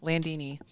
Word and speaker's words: Landini: Landini. Oh wow, that It is a really good special. last name. Yeah. Thought about hyphenating It's not much it. that rhymes with Lamborghini, but I know.